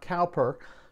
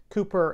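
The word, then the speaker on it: Cowper: named william cooper now it's spelled c-o-w-p-e-r but it's pronounced cooper not calper who lived from 1731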